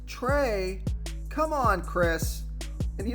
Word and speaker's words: Trea: It's pronounced Trey. Come on, Chris. And you know what? You're right. That was pretty bad. It is Trey. It's not Tria.